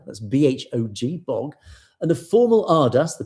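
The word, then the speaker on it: Bhog: These are Akhand Path readings at historic Gurdwaras, starting on the 27th of August, concluding with Bog, that's B-H-O-G, Bog, and the formal Ardas, the prayers, on the morning of the 29th.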